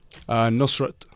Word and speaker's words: Nusrat: Nusrat.